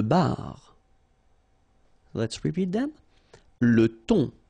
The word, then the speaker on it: thon: Le thon. Remember, H here is not pronounced.